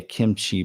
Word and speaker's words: kimchi: You say it's with a K, kimchi, but but it's pronounced between a K and a G, sort of kimchi.